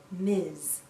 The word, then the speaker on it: Ms: mrs jones m s we pronounce this as miz miz sounds like a z at the end miz a woman can